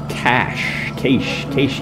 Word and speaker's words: cache: And we're going to do the challenge rift so that we can get the challenge rift cache. How do you pronounce that?